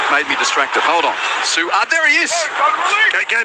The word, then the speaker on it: Su'A: And Tim from Upper Caboolture says my pronunciation of Jayden Su'A, the way I try and make sure that there is the pause for the apostrophe, he says it suggests a nickname for him, "Pigeon."